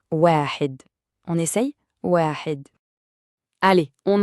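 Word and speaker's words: واحد: Et pour la prononciation, ça donne wahid.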